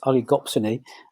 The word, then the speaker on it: oligopsony: We also get, it's a difficult one to pronounce, it's oligopsony, and that's a term that's used when you just have a few buyers in the market.